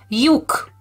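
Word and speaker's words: lyuk: Tricky Ellipsis, which is pronounced as y, like in, I'm gonna go back for you. So like in yogurt, but it's written like this. Yuk.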